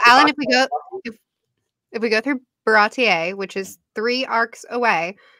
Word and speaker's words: Baratie: Can we go through at least Barati? Sure. Baratier, I believe, is the proper way to say it.